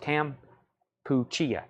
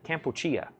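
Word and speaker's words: Kampuchea: John Young says it's pronounced Campuchia. Campuchia.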